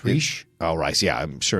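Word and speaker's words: Rhys: Jungmin Hunsu, Daniel Bruhl, Reese Ifans, Tom Hollander. God damn. You said? I would say Rice. It's Reese.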